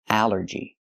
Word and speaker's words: allergy: ball and call, but here it makes the a sound. The short a like an apple and black. A allergy. It's three syllables. Allergy. The stress is on the first syllable.